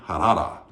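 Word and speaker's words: Harrah: n a r e m a n nman harada that's how you say her name Har h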